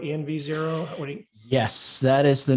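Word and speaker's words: env0: n is it pronounced nzero EnV Zer what yes that is the number one piece of feedback I get is your name is hard to say so it is mzero like environment zero um it's kind of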